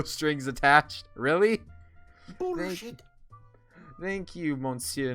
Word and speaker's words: monsieur: i not pronouncing it correctly yeah it's it's pronounced monsieur monsieur yeah i've heard it pronounced monsieur the